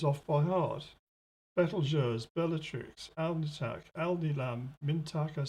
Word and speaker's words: Betelgeuse: the seven brightest stars what i call betelgeuse i think a lot of people call it beetlejuice and i'm you know people tell me off actually because i don't think it should be pronounced beetlejuice that doesn't sound right at all but anyway whatever you